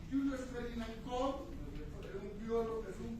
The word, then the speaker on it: Koch: No se dice Koch, se dice Koch, ¿no?